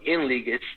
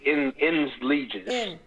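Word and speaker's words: ens legis: The word is spelled Enlegis. It's ENSLEGIS. Enlegis. And the trust property.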